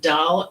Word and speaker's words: Dahl: Dal is a Scandinavia name. They pronounce it like doll.